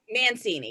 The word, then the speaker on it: Mancini: I want to, I'm probably butchering her name, but Mancini, is that how you pronounce her name? Mancini, yeah.